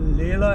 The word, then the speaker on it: Leila: लेला एवेन्यू, और हम बोलते हैं इसको लीला एवेन्यू, क्योंकि LEILA है स्पेलिंग ना।